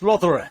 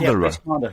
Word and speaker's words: Rothera: Is it Rothera? Yeah, it's pronounced Rothera. That's right. Rothera.